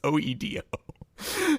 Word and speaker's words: Oedo: o we're both dyslexic o oido yeah both pronouncing it o d EO it's not it's Oedo Ido o Cyber City EO oo oo yeah